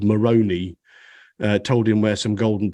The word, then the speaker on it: Moroni: Moroni, yes, Moroni. Yes. Moroni, yes. Or I mean, that is how it is pronounced by them.